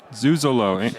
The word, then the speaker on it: Zuzolo: Zuzolo.